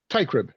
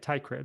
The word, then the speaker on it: Teichrib: You know, you pronounce it in 2 pieces or 2 parts: tie and a crib. So you think of a bow tie and a crib. Teichrib. Okay, Teichrib. Yeah, Teichrib.